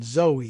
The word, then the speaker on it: Zoe: between Jerry Nadler and Zoe Lofgren. And I learned in reading about her background that she pronounces the name Zoe rather than Zoe. It's Z-O-E, and some people say Zoe. She says Zoe, apparently.